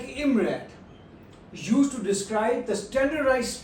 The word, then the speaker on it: IMRaD: It is an acronym and it's pronounced like IMRAD used to describe the standardized structure of a scientific research papers.